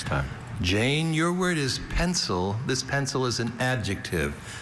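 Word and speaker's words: pensile: Jane, your word is pencil. This pencil is an adjective. This pencil means suspended from above. Hanging pendant pencil. May I have all information? Pencil is the only pronunciation of this adjective.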